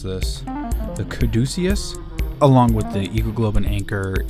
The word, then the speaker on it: caduceus: it up on the Wikipedia and it is pronounced the caduceus and this is from the first paragraph on